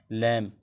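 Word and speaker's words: lamb: एल ए एम बी, यहाँ पे भी वही कंडीशन लागू हो रही है, लैम, इसको टी यू एम बी, थम, इसको थम पढ़ेंगे, बी साइलेंट रहेगा यहाँ पे भी।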